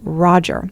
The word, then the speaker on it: Roger: The hard j sound of Roger is going to take some work.